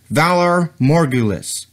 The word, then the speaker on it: Valar morghulis: do you think you're doing first it is pronounced Valar morghulis second you brought her in to the wrong